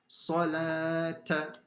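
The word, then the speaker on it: الصلاة: Then the lam has a standing fatha and you stretch it. And the waw is silent. Salata.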